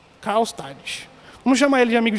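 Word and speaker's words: Karlstadt: o nome do amigo de Lutero é quase impronunciado viu irmãos Carl stad Carl stad vamos chamar ele de amigo de Lutero amigo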